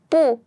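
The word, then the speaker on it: 不: first three examples here bu is pronounced as the second tone because here sh and CH they are both the fourth tone that's why bu is pronounced as the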